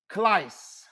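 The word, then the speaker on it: κλείς: The Greek word for key in this context, the Greek word for key in this context is kleis. Kleis. Y'all see that? Kleis. That's spelled K-L-E-I-S.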